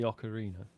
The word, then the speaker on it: Ocarina: silent about this I think during the whole okarina Ocarina the whole Ocarina orar the whole mispronunciation thing you didn't pipe up then you didn't feel that pip did I not I mean yeah it's definitely Ocarina I've not even played it no I just